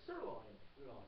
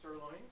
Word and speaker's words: sirloin: Oh, yeah, sirloin. Yes, 2 syllables. Yeah, sirloin.